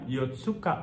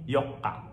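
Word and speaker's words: 四日: itu kasih suuk kecil Kayak misalnya Yoka itu bukan yotsuka tapi Yoka gitu terus ada chowong itu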